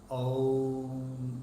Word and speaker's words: Om: A-U-Ma. Om, it's actually pronounced in this way, right from your navel coming out. And it has three things. A, U and M. Om. In Sanskrit it is said A, U and Ma. And that together is pronounced as Om.